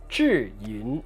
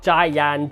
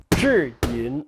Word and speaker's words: Zhiyun: The Zhiyun Chinese characters pronounced Zhiyun, not Zhiyun, Jiyan, Jiyan. I've heard lots of people pronounce it differently. It's Zhiyun.